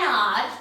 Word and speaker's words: hour: with a consonant but H is silent and we use and with it. So, Pinky will take an hour to complete this work.